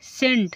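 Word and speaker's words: scent: मतलब देखना देखो एस सी इ एन टी सेंट सेंट means क्या होगा इत्र सेंट मींस क्या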